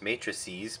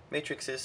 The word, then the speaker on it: matrices: and yes I am totally aware it is pronounced matrices but matrix is sounds funny or so I guess I went